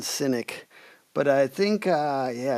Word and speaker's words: Sinek: Am I pronouncing their names wrong? It's definitely Yeah, it's Goden and Synynic.